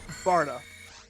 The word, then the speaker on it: Barta: says folie and then barda oh this one's a tough one it's pronounced barta i don't know why